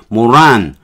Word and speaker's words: moron: 이걸 생각해내야 되는 거죠 모란 강세는 앞에 있으니까 모란 앞에 강세가 오니까 모란 좀 내려야 되겠죠